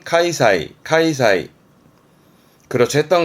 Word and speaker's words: 開催: 발음은 카이사이, 카이사이.